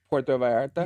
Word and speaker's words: Puerto Vallarta: Puerto Vallarta?